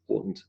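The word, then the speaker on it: oughtn't: he she will become she ought not becomes anant ortant two syllables ortant I know the other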